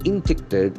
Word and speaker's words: induct: Induct, INDUCT. It has got a beautiful pronunciation. Induct. Intact. Induct. Induct. Induct. Accent for second syllable.